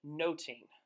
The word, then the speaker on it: nothing: with much ado about nothing it starts off with the pronunciation of the last word of the title Shakespeare might have actually said noting which means to observe or to watch which is a play